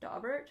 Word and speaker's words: Daubert: it is somebody's name and it actually is pronounced daubert but it's ridiculous um d-i-u-b-e-r-t the i would